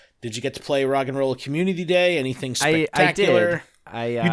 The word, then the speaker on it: Roggenrola: It's like a cereal name. It's like Roggenrola. It's not. It's granola.